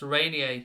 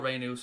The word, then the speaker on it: Reinier: It's Rainier. It's not Rainus. It's Rainier, I believe. Reinier, I think, is the way it's pronounced.